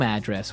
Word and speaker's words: address: So different from your home address where you live. Yeah. And there the stress is on the first syllable.